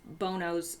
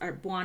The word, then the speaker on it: Bono: the red org it's corrupt it's part of Bono's arbois no how do you pronounce his name well wha no it's Bono